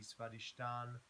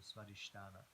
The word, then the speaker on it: Svadhisthana: So remember, sometimes they're pronounced with or without the A on the end, so it could be Svadhisthana or Svadhisthana.